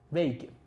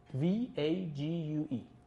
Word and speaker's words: vague: is that virtues are W vag vag v a g u e vess vague yeah vess imprecise yeah sorry sorry my mispronunciation um virtues are vague